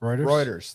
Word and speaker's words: Reuters: I can't say it rudimentary rude awakening rewarders Reuters there you go I knew I wasn't saying